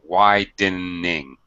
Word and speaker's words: widening: By the way, Mustafa, pronunciation, widening. Oh, widening. Yeah, 3 syllables.